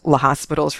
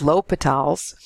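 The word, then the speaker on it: l'Hôpital: statement of the rule a lot of people say l'hospital's because it looks like the word hospital is in there and this is French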